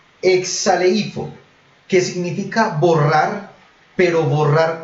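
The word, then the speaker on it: ἐξαλείφω: K-S-A-L, y con tilde, P-H-O, pero suena como si fuera una F, como cuando se refiere a Phoenix, Arizona, que se escribe pero PH. Exaleifo, que significa borrar, pero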